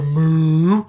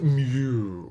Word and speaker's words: mu: symbol called mu now I did not go mu because cows go Moo not interested in that it's mu it has a very definite pronounciation now mu also stands